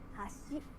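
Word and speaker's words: 橋: 箸、 But if you say hashi, it means bridge.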